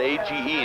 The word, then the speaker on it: Age: I guess he has kind of a funny first name, and but it's they spell it A-G-E, and it's pronounced Age.